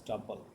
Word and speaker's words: tuple: It is pronounced as tuple.